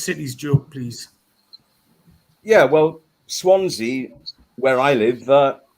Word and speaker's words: Swansea: Yeah, well, Swansea, where I live, Swansea's actually the only place name in Britain that rhymes with Fonzie.